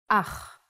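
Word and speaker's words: אח: a brother in Hebrew ah the pronunciation is important try to pronounce it more glotly from your throat Hava is a farm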